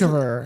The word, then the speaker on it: Sutskever: it's I can't Ilya pronounce his- Sutskever.